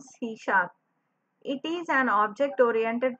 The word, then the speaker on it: C#: सी hash is pronounce सी sharp.